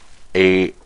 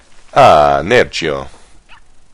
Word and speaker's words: aAANerchio: he's playing Zerg, and if you say it quickly, he sounds Italian, so I'm going to assume he's Italian. This Italian versus French match. aAANerchio. aAANerchio. See? Yeah, that's how you pronounce it.